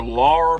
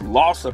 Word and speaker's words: Larsa: I kept calling her Laura Pippen, and it's Lossa Pippen, and I wasn't the only one doing that.